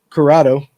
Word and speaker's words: Curotto: Ryan Hanks right there, right across from me, and Curotto.